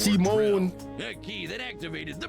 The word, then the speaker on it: Simon: Until the day he found the pronounced Simone.